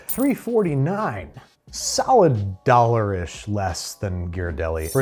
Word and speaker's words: Ghirardelli: Can you look up the pronunciation of Ghirardelli for us?